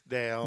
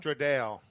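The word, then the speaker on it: Stradale: Would you like to Would you like to Stratdale? No, there's no there's no T. It's Stra Straddale.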